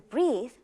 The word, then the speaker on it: breathe: Notice when we add the silent E to breathe, two sounds change in the word. First, the EA changes from short A sound to the long E sound, and the TH changes from th like tooth to the like this.